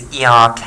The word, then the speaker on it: ERK: and the extracellular signal regulated kinase that is erk here okay or as it's pronounced right so we have in our title